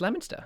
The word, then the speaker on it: Leominster: It's Leominster.